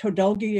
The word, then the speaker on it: Hodulgee: You pronounced Hodulgee exactly right.